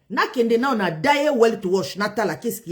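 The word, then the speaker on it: Die Weltwoche: pe site Morabi selon des révélations graves de Daya Weltwash. Daya Weltwash, j'espère que je prononce bien, eza combo moko en allemand.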